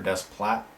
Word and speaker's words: Desplat: terrific Direction really good music also by Alexander desplat that's how you say it I personally think